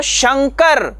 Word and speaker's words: शंकर: उच्चारण करना पड़ता है किंतु वही अनुनासिक जब हम शंकर संग्राम इन शब्दों में यूज करते हैं इस्तेमाल करते हैं तो शंकर तो इसमें न का इस्तेमाल करना पड़ता है यानी हमें न का